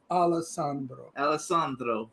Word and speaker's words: Alessandro: Say it right, Alessandro.